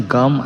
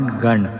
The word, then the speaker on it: गं: तो ये जो गम वर्ड है उसका प्रोनाउंसिएशन गम ऐसा होता है, GAM, नॉट गण.